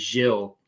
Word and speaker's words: Gillis: His name is Gilles, pronounced spelled Gillis. You know what I'm talking about? Yeah, he's great. Yeah, he's awesome. Gilles.